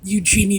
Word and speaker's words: Eugenie: Oh, by the way, I should mention, our British friends claim I'm mispronouncing that. Personally, it's not a big deal to me. I don't consider Eugenie to be anything more than a social media princess.